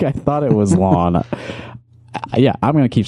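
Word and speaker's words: Lahn: L A HN is pronounced lane. I don't think so. I don't think so. His name is Zach Lon and I'm not backing down on that.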